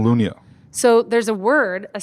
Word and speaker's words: Lunya: all this stuff so there's a word in Swedish that's that is basically Lunia but it's lu GNA Americans would call that lug nut yeah but I spelled it phonetically and it means calm